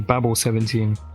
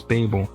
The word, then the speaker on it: Babel: So the second book I'm going to be talking about is Babel 17, which I've been pronouncing Babel 17, but I'm pretty sure it's Babel, by Samuel R.